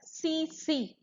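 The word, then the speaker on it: tsetse: CC fly, which is belong to the phylum Glossinidae, and it pronounced as CC, and it's the large biting flies of basically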